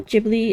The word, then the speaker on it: Ghibli: Do you pronounce it Giblly or Jibli? I know Ghibli is technically right, but I don't like it, so I still call it Gibli.